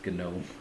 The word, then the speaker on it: GNOME: I think you pronounce the G and everything Linux GNU and I guess it's Gnome.